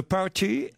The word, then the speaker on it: party: Il y a qu'en français où on met l'accent sur la dernière syllabe. The End of the Party. Of the party. The End of the Party. Dans le... Non, party. Party. Le T est tout presque inaudible. Dis pâté.